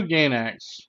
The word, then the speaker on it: Gainax: So I've been pronouncing it wrong too, so I'll pronounce it right this time. So Studio Gainax, who brought us a lot of good titles, Gurren Lagann, FOCL, Evangelion, a bunch of stuff I don't know.